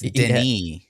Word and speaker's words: Denis: And they also, he specifically, the director, Vinny, is, am I saying his name wrong? It's Denis.